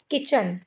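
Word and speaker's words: kitchen: देखो जैसे टी सी एच इसमें बीच में आया है। है ना? तो हम इसको कैसे पढ़ेंगे? यहां पे भी टी साइलेंट हो जाएगा। तो की च और न किचन। क्या पढ़ेंगे इसको? किचन।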